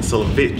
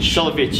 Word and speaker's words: Solewicz: macabi solo is with us do I pronounce that right by the way solich solich is it yeah I Stumble over Smith mate